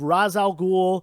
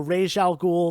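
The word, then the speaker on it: Ra's al Ghul: this is the first appearance of Raz al Ghul or Raj Al ghoul depending on how you pronounce it uh most people say Ras Al ghoul I think because of the uh the Christopher Nolan movies that's how they use that name and that's really when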